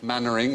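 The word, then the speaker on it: Mainwaring: that was Chumlee sorry Mannering as in kept remembering the bottom is beaver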